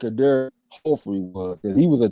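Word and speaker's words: Éder Jofre: So it seemed like that J should be pronounced as an H. Eder Joffrey is what it seemed like it should be.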